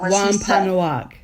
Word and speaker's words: Wampanoag: And I can't pronounce the name of the tribe that is... Wampanoag. Wampanoag? No, yeah, Wampanoag.